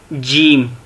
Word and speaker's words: جیم: جیم ایسے لکھا جاتا ہے جیم کو.